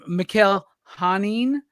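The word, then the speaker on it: Mikel Janín: And Mikhail Hanin, I believe is how we say his name now, after asking my entire audience how to say his name.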